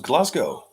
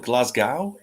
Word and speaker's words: Glasgow: I'm from Birmingham Craig no American can pronounce glasow so they call it Glasgow Glasgow oh man Ivan